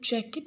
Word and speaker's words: jacket: The first syllable of jacket is stressed.